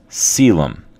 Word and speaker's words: coelom: called the celum that is co e l pronounced celum the creation of a celum is an incredibly important advancement it allows for